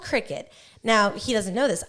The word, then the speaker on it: Cricut: It's called a Cricut. Okay, but it's spelled like cry cut.